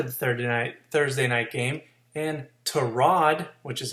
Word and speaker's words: Tyrod: And Tyrod, which is how you pronounce that, Taylor, put Flying Spaghetti Monsters in a giant hole Thursday night for them to work out of.